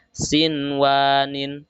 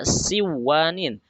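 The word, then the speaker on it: صنوان: Contoh yang kedua ada kalimat sinwanin, sinwanin. Nah, tidak boleh dibaca siwanin, tidak boleh diidghamkan. Meskipun harusnya ini termasuk dalam hukuman idgham. Nah, tetapi harus dibaca jelas. Apa dibaca idhar? Sinwanin, sinwanin. Tidak boleh dibaca siwanin, tapi sinwanin.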